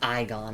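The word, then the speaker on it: Igon: Oh, it's pronounced Iggon.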